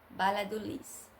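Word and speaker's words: Valladolid: perto, Balha do Lis, que fala Balha do Lis, escreve com V, mas é, pronuncia com B, bala do Lis.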